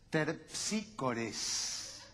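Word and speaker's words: Terpsícore: de ninguna manera querido colega porque usted lo pronuncia de manera incorrecta la musa de la danza es terpsicore cómo va a ser terpsicore si es una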